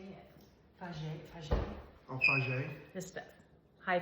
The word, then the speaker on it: Fage: Fage.